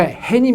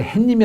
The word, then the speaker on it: 해님: 오라고 할까 흰 이미 음 해님 예 우리가 해님 이라고 해야 돼요 그런데 이 말을 흔히 이제 햇님이 라고 발음하는 용어들도 있어요 못 들어봤어 햇님이 락은 아